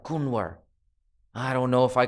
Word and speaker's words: Kunwar: The N is a little softer, so it's more like Kunwar.